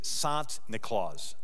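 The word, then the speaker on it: Sint Nicolaas: The Dutch pronunciation of Saint Nicholas is Sant Nicolaas.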